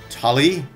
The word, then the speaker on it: Tully: Fisherman, Tully. Yeah, it almost sounds like Sully. Although they wanted to spell it with a T instead of an S.